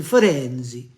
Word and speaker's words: Firenze: No, John, it's Venezia and Firenze.